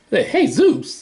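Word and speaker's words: Jesús: You're probably looking at that word thinking Jesus, but I think it's probably Hispanic, so they would pronounce it Jesus.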